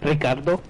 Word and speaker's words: Ricardo: kind of really conversational, so I always feel weird when I don't say words, Spanish words, with a Spanish accent. Like, I'll say my name is Ricardo instead of saying Ricardo.